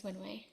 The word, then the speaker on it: Wenwei: My name is Wenwei.